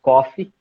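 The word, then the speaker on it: Cófe: Fábio Farinos aí, chama Coffee, né? E se escreve como se pronuncia, Coffee, C-O-F-E, com acento no O.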